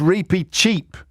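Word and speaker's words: Reepicheep: of the mouse I don't know no it's repeat cheap yes thank you cheap cheap so stop texting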